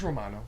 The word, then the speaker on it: Romano: say your last name just romano you don't need to roll with that you're right okay so